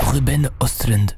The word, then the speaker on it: Ruben Östlund: nom du réalisateur, mais ça se dit je crois Ruben Östlund.